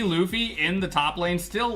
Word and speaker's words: Luffy: bit I used to think that it was Fluffy and not Luffy until I was just absolutely assaulted by my